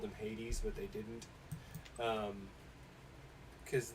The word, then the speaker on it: Hades: hadas instead of hades it's like it's hades guys it's hades and i was the only one who would call him hades other people would be like hoddez okay know that's how